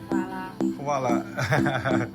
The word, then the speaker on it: hvala: Hvala.